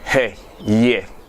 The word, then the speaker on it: Hwehwe: We'll begin with Hwehwe. Sounds like SCH in schnapp.